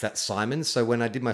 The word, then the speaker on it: Simons: myself, I said Aaron Simmons. And like, they went with it. And so they had to change my character's name because I didn't know how to pronounce Simons.